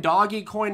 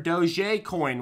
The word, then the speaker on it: Dogecoin: to subscribe okay so dogecoin doggy coin or doj coin which is the fancy way of pronouncing it let me give you